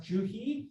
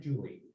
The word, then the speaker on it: Juhi: uh we have uh is it pronounced juhi or is it julie yeah did i get it right the first time oh my gosh don't